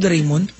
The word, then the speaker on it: Doraemon: kasi magkapangalan sila eh Dora rayon doraimon doraimon pala ang tawag tamang basa Oo doraimon ang tamang ano doon dyon tamang pronounce do doraimon sikat po ba si